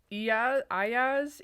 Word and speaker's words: Iyaz: It's Iyaz.